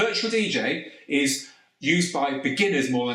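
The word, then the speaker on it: djay: The first one is DJ, which is spelled D-J-A-Y.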